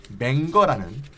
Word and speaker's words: Menger: 그러면 이 문제를 맹거는 어떻게 해결했느냐? 선생님 저 발음 좀 잘해주세요.